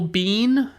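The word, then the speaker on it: Biehn: And then we've got Michael Bean. I believe Bean is the correct way to pronounce his name.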